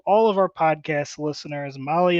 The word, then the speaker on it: Mahle: And to all of our podcast listeners, Molly is spelled Mahle.